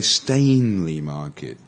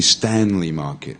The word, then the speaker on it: Stanley Market: yeah how about this I've heard people a lot of people say stainely Market yeah a stain is when you make a mark on your on your dress or something like that it's really Stanley market yeah it's Danny Stanley